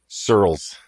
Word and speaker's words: Surles: comom and uh your last name I'm gonna say it right Randy Sirles correct that's right here right here you have